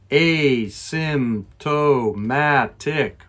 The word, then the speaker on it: asymptomatic: seven is this word asymptomatic a little bit difficult it has many syllables a symptomatic five once more asymptomatic